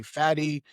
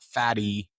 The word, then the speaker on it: Fady: Do I say Fady? The real pronunciation. And for some people, I said Fady. And then I gave them the 10-minute explanation as to like, it's not fatty. It's Arabic. It's a D.